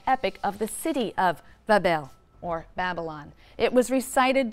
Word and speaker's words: Babylon: a magnificent shrine or temple in Babylon, pronounced Bab-el, which simply means gateway of the god, the gate of the god.